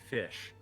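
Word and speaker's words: ghoti: the ship is pronounced fish is yeah it's one of those play on words it's the gh is pronounced like the F in enough oh okay woman and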